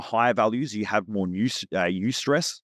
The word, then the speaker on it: eustress: When you're in your higher values, you have more eustress, which is spelled EU. stress, eustress.